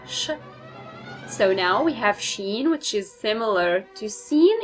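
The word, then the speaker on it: شين: seen as a shape, of course, which is sheen, and this sh is just like in the word shine, sh. So now we have sheen, which is similar to seen in shape, like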